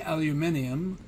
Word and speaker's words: aluminium: have to say so this would just be aluminum or as the british say aluminium okay so this would